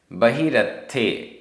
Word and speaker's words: बहिरत्थे: बहिरत्थे, बहिरत्थे आधा त थ, बहिरत्थे।